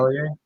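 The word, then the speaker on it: Selye: Cellier? Say that Hans again. Cellier?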